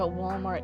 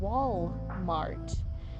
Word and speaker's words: Walmart: Used to work at Walmart, now I sell phones.